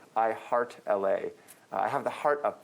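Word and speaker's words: I❤️LA: text is small because some people say i love la some people think that la is los angeles but it's it's linear algebra it's i heart la is how we pronounce it but i guess i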